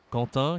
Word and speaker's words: Quentin: Alors ici, c'est Quentin, okay, prénom français très populaire, et on le prononce comme le K, K de Karine. Hein, Quentin, Quentin, Karine.